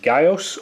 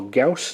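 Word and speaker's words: Gyaos: So first of all, here is a 6-inch Bandai Japan Gaios, or Gauss, depending on how you like to say his name.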